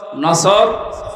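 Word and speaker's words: نصر: আর বাকি আয়াতে না তিনটা সূরা তিন আসর নসর কাউসার তার ভেতরে একটা পড়েছি এটা তেলাওয়াত শুদ্ধ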